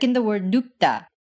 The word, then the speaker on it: 눕다: Like in the word 눕다, In a case like this, the first syllable will end with an unreleased P sound, as in nu, and the second syllable, even though it's written with a lax T sound, 다, is pronounced tense. as in 따. So you get 눕다 instead of 눕다.